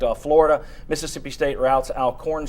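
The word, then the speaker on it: Alcorn: Florida Mississippi State routes alorn state or alorn state if you want to pronounce it correctly uh Missouri defeated Toledo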